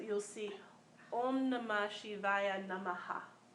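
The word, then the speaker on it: Namaḥ: So oftentimes we say Namaha, you know, so the Namaha, but it's more subtle. That's why sometimes you see it's spelled differently. Sometimes you see Nama, but it's supposed to be actually a subtle like Nama, like a. So it's like aha. So it's a subtler sound.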